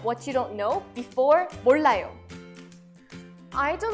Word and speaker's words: 몰라요: Let's first practice the pronunciation of 몰라요. 몰라요. 몰라요.